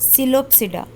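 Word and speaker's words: Psilopsida: सिलोप्सिडा, यहाँ पे P silent है, सिलोप्सिडा इसका नाम, एक एग्जाम्पल है सिलोप्टम।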